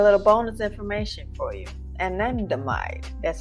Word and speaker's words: anandamide: Anandamide, that's how you say it, is a neurotransmitter